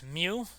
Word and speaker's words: mu: symbol that Kawasaki you that is pronounced as mu again it's Greek an example from the